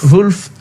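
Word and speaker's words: Wolff: Ça prononce comme ça. Wolf.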